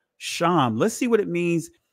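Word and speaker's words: שֵׁם: it's a simple word sham that's the ancient Hebrew pronunciation of it sham let's see what name sham let's see what it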